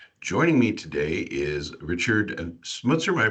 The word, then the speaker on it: Smutze: AI ready machines joining me today is Richard smutzer am I pronouncing that correctly yeah you've got it cool